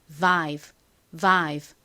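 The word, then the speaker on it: vibe: 참고로이 가장 앞에 비읍 소리는요. 그냥 브 소리가 아니라 진동이 들어간 소리입니다. 그래서바이브가 아니라 실제 영어 발음은 vive 이렇게 발음해요.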